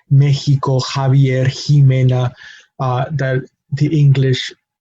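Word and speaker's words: México: No, usually it shares that same sound, but it can also be pronounced like the Spanish J, which we covered already, which is a similar to the English H, and that is the case in words like Mexico. We have the letter X, but we have the sort of H pronunciation in the middle syllable.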